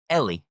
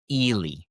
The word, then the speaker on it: Ely: And then we have E L Y. Ellie, right? Ellie. Mm-m. In this case, the pronunciation is Elely.